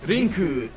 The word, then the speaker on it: Link: Oh, you're pronouncing Link wrong. It's Rinku.